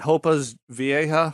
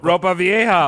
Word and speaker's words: Ropa Vieja: Was it Hopa's Vieja? What? How do you say it? Ropa Vieja, old clothes.